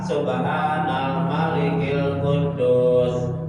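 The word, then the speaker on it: سبحان الملك القدوس: Jadi yang tepat itu paling tepat dibacanya subhanal subhanal malikil qudus. Subhanalikil qudus tiga tiga kali ya.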